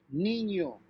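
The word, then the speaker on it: niño: have this symbol over n it's pronounced like ny so in this case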